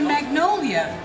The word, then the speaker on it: magnolia: La Roche I said how do you say Magnolia in French it's Magnolia it's very close right to send this out